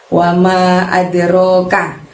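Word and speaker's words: وما أدراك: Di ayat yang ke-10 ada lafadz wama adroka. Kalau ada wama lalu ada adroka, manya panjangnya 5. Wama adroka.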